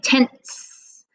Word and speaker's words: tenths: the tense is and i'm saying tense with that snake sound at the end that tenths place is